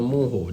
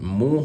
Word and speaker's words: Mujjo: This is called Mujjo or Mujjo. Comment down below, let me know what you guys basically pronounce it. But I pronounce it Mujjo.